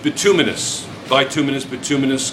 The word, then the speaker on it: bituminous: right two kilograms all right it's pronounced it's pronounced like bituminous by two minutes but two minutes call it's fine determinus coal